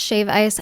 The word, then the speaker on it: shave ice: And yes, that's shave ice without a D. That's how they say it in Hawaii.